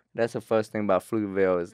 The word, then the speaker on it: Pflugerville: the first thing about fluteville is like it's hard to spell how do you say it do you pronounce the p uh you don't but that's a p